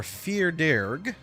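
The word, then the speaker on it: fear dearg: Fardarig. Is that anything? It is something. A Fardarig, or Firdirg, is a fairy of Irish mythology. The name Fardarig is an Anglophone pronunciation of the Irish words fear.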